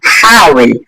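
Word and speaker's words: حاول: চেষ্টা করো, চেষ্টা করো, এটা, এটাকে আমরা আরবিতে বলবো হাউইল, হাউইল, চেষ্টা করো। হাউইল, হাউইল, চেষ্টা করো। হাউইল, চেষ্টা করো। এখানে হাউইল, হাউইল বললে হবে না, হাউইল না, এটা হা, হাই উচ্চারণটা সুন্দর করে করবেন।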